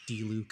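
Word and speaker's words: Diluc: We have Dillik. I have not used him, or D-Luke, I guess people pronounce it as.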